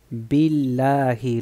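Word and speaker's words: بالله: vamos aquí muy bien aquí tenemos un alef pero pero el al no se pronuncia Y tenemos el nombre allah bilahi lo dijo bien okay min min min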